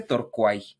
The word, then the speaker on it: Torquay: Se escribe Torquay, pero se pronuncia Torquay, Inglaterra.